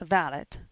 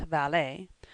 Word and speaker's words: valet: The valot, pronounced valot, not valet, is what Bo Brauml called a gentleman's gentleman.